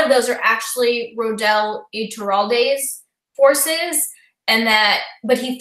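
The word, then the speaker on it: Ituralde: think a lot of those are actually Rodel Iturralde's forces, and that, but he thought that they were all Matt's, or he thought they were all Tom Marilyn's.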